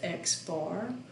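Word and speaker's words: x̄: see this thing with an x with a line over it which is pronounced x bar we're just going to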